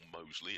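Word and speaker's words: Mousley: best of my knowledge it's still mosle as in the district of Birmingham round the week comes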